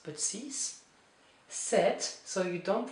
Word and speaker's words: six: So, this X is pronounced as an S. So, it's not six, but sis.